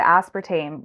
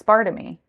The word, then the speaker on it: aspartame: At first, before I knew how to pronounce it, I was calling it as spartammy, but it's aspartame.